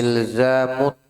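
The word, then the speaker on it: إلزامُ: Ilzamut ta'ati. Mi atau mu? Ilzamu. Pakai dhamma.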